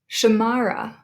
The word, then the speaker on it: Samarra: with more than two Samarra we have three syllables there and we emphasize the second one or Madison if you